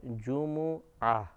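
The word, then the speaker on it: جمعة: تجدید کے پڑھتے ہیں، لیکن عربی تلفظ کے اعتبار سے جیم اور میم دونوں پر پیش ہے جمعہ، جمعہ کا دن۔ اگر یہ مشکل محسوس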